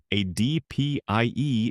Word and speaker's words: ADPIE: ADPIE is often pronounced "ad pie".